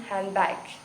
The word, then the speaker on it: handbag: For example, most of American English speakers do not pronounce the D in handbag.